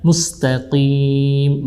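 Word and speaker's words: مستقيم: Mustaqim bukan mustaqim ya. Berbeda makhraj walaupun masih di huruf lisan.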